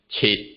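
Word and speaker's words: 七: 7 is pronounced as chit, chit.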